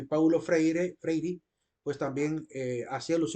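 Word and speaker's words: Freire: pedagogo que se llama Paulo fre lo pronuncian freir en portugués eh es que es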